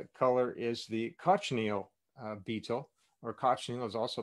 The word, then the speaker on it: cochineal: I made the mistake recently of not pronouncing it correctly. So it's cochineal in English, it's cochinilla in Spanish, but cochineal in Spanish means filthy, not cochineal bug. So it's cochineal in English, but cochinilla in Spanish.